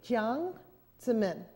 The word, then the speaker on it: Jiang Zemin: Jiang Zemin, and it's J-I-A-N-G.